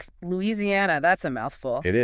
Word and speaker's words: Louisiana: Louisiana. That's a mouthful. It is five syllables. The stress comes late on the fourth syllable.